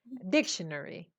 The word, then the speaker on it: dictionary: Dictionary. Behzad, the stress is on the first syllable.